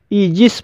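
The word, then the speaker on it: aegis: ईजिस, ईजिस शब्द ए ई से शुरू हुआ है और यहाँ पर ए ई का उच्चारण ई हुआ है, इसलिए इसे ईजिस पढ़ा जाता है और ईजिस मीन्स होता है छत्र छाया।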